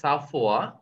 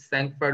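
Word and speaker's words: sang-froid: স্যাংফ্রয়েড এটার উচ্চারণ হচ্ছে সাফায়া অনেকে স্যাংফ্রয়েড উচ্চারণ করে কিন্তু আসলে প্রকৃত উচ্চারণ হচ্ছে সাফায়া এবং এটার মানে হচ্ছে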